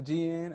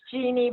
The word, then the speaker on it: Jeannie: over uh to gn am i am i pronouncing your name correctly i want to pronounce your name correctly no it's it's jeannie but it's my parents fault i don't know why they didn't put an eye in there but they did